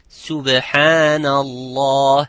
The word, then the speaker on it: Subhanallah: Like some would say, I hear some of my students saying, Subhanallah, it's Subhanallah. It is not sub, it's Subhanallah.